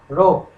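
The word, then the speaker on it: ρ: এটা একটা Greek alphabet, এর উচ্চারণ হচ্ছে এইটা রো, রোহো নয় রো, এবং এটা হচ্ছে এই ক্ষেত্রে তাহলে কনস্ট্যান্ট অফ প্রপোর্শনালিটি।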